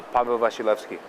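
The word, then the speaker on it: Paweł Wasilewski: your real full name on camera can I pronounce my real full name on camera uh my real full name it real uh Pavo vilki very nice question two are you married no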